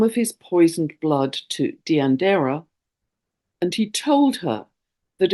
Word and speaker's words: Deianeira: I believe it's pronounced Deianeira.